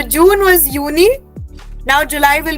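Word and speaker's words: Juni: like the sibling of जून सो जून वाज़ यूननी now July will be यूली okay so यूनी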